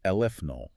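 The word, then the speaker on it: aleph-null: It's pronounced alfnull. Eleph.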